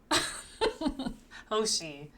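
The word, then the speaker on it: Hoshi: Hosi. Uh, basically again, pronounce how it looks.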